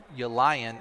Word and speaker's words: Ylanan: I was waiting for their PA guy to pronounce his name because it's spelled Ylanan. Elian is what he called it, and so it looks